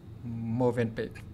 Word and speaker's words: Mövenpick: Quay trở lại những câu chuyện về Mövenpick; thực ra, tôi mới được chỉ cho là phải phát âm là "Mövenpick" mới đúng, phải không?